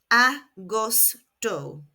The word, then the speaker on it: agosto: Julio and August is austoto. Pronounced aostto.